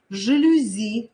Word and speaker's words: жалюзи: это будет правильно правильное произношение слова жалюзи но не жалюзи потому что когда в этом слове тоже частенько путаются запоминаем жалюзи французский вариант сливовый но не сливовый